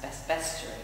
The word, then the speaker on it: bestiary: the medieval bestiary, although now I'm told it's pronounced bestiary, which is tepid word, bestiary sounds much better.